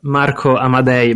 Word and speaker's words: Amadei: Yeah, the correct pronunciation is Marco Amadei, but yeah, of course, can be a little bit tricky to pronounce for non-Italians, so don't worry.